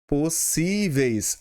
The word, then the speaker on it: possíveis: A palavra é possíveis. Olha só. Possíveis. Assim, ela é o que, pessoal? Ela tem a sílaba forte na penúltima, como fáceis, tá bom?